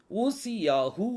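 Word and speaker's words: עזיהו: ஊசியா இங்கிலீஷ்லயும் ஊசியா தான் எபிரேய மொழியில ஊசியாகு அப்படின்னு சொல்லி வரும் ஊசியாகு இதுல நீங்க இது ரெண்டு உச்சரிப்புல நீங்க பார்க்கலாம் எபிரேயர் டெக்ஸ்ட் நீங்க பாருங்க ஊசி அடுத்தது யாகு ஊசி யாகு அந்த யோது வந்து ரெண்டு ரெண்டு தடவை அது என்ன செய்யுது ப்ரொனௌன்ஸ் ஆகுது ஊசி யாகு ஊசி யாகு இந்த ஊஸ்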